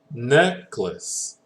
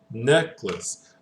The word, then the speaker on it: necklace: okay here the syllab the strong syllable will be on the e right so we're gonna go like this necklace necklace okay one one of